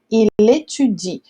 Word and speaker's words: il étudie: Então é por isso que aqui a gente não pronuncia o E. Então fica il étudie.